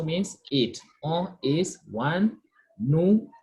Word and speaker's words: nous: Nous, we say nous. S is silent.